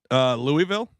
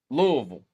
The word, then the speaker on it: Louisville: Louisville? Oh, my God. False. How do you say Louisville. Louisville. Yeah, pretend like you got titties in your mouth and then say exactly.